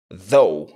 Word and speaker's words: though: Though. Exactly. Donc là, on a un voiced TH qui se prononce the. Et le O-U-G-H va se prononcer O, tout simplement. Donc, though.